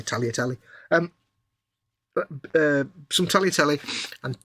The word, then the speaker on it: tagliatelle: Or it should be tagliatelle, really, the way you pronounce it. But tagliatelle.